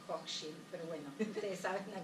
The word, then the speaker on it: Hochschild: de Erving Goffman con la microsociología y esta Ali, bueno, que nunca sé porque los norteamericanos la pronuncian Hochschild, y yo diría que se debe decir Hochschild, pero bueno, ustedes saben a qué me refiero, ¿no?